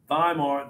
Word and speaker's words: Weimar: The Germans pronounce those W's like a V. Weimar, the Weimar, and they created the Weimar Republic.